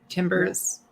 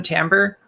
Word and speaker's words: timbre: texture is moving textures timbers tampers that's the word i always want to call it timber because that's how it looks like it should be pronounced um yeah i i